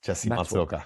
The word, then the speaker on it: Matsuoka: Yes, Jesse Matsuoka. Matsuoka.